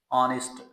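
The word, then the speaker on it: honest: pronunciation है that is ऑनेस्ट ऑनेस्ट नॉट ऑनेस्ट या नेस्ट इसमें हा साउंड तो है ही नहीं स्टार्ट में ये आ साउंड है short uh sound that will be pronounced S ऑनेस्ट ऑनेस्ट और अगर इसको हम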